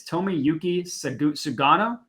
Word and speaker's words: Tomoyuki Sugano: The pitching matchup, nobody knows this guy, and I'm going to pronounce his name, and it's going to sound like I'm ordering a sushi roll, but it's Tomoyuki Sugano.